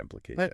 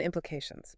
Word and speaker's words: implications: That has a lot of implications. Okay. and implications. Big word. Yeah. Just practice getting all the syllables clearly. The main stress is on the third syllable.